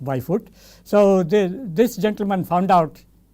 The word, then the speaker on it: Bijvoet: Very interesting spelling, pronounced as Byfoot. So, you can say Bijwayot if you want, that is what most of us spell it, but it is pronounced Byfoot.